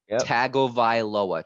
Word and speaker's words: Tagovailoa: tua that's cool but let me tell you how to say his last name tagovailoa tag tag taggle by